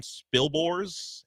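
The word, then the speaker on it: Spilborghs: His name is Ryan Spilbors, if that's how you pronounce S P I L B O R G HS.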